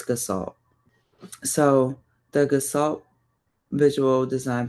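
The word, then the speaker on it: Gestalt: say G like the G first verse well pronounce the G in a different way but um it's gassalt.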